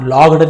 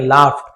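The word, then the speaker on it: laughed: मार के हंस पड़े तो लाफ लगड नहीं पड़ेंगे लाफ ए यू जीी एस फ फ लाफ ऐसे उच्चारण किया लगड नहीं पढ़ेंगे जोर से हंसे इन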